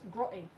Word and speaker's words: grotty: Tom, to say it proper like you don't pronounce the T, it's grotty.